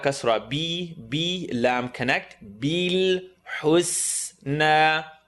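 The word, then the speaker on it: الحسنى: Bil husna. Hu, say the cool word, say cool. Hus. So it's going to go oo, and then the seen, tip of the tongue, bottom teeth. Seen, husna.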